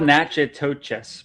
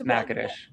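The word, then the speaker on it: Natchitoches: and also how to pronounce the name of the city where you Nadesh. It's spelled Nacha toes, but it's Nacadesh.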